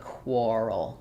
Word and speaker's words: quarrel: sound squirrel for quar this has the or sound. So just like quarter or quart um for quarrel um we have the quar. So squirrel but quarrel quarrel.